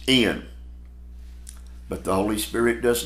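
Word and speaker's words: ἐν: e n n and e n is pronounced in but the holy spirit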